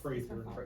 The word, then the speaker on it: Prather: And you pronounce my last name Yes. Prather, rather.